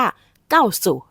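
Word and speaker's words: 告诉: สู่ ก้า สุ บอก สังเกต อักษร ตัว ที่ 2 จะ ออก เสียง เป็น เสียง สั้น หรือ ว่า เสียง เบา นะ คะ ดัง นั้น บาง ครั้ง เรา จะ ได้ ยิน คน จีน ออก เสียง ว่า เก้า สุ หรือ ว่า เก้า สู้ ก็ ได้ ค่ะ คำ นี้ ใน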